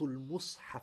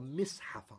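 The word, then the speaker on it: مصحف: He said, عَرَضْتُ الْمُصْحَفَ عَلَى ابْنِ عَبَّاسِ. You can say, عَرَضْتُ الْمَصْحَفَ or مِصْحَفَ or مُصْحَف. The word مُصْحَف is a مثلث. It's a مثلث. You can pronounce it three ways.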